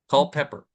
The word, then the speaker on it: Culpeper: That's just the spelling and the pronunciation. Yeah. Culpeper.